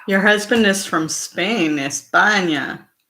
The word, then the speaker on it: España: Your husband is from Spain, España. That's how they would say it. España. Uh-huh. Yeah, because they pronounce their S's like that.